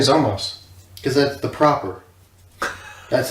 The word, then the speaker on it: Zamasu: So Zamasu. It's pronounced Zamos, but in Japanese they add the little extra syllables to it. That's why it's Trunksu, not Trunks.